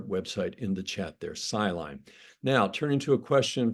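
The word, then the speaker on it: SciLine: scientist is something called sine that's spelled s c l i n e siline that's a group of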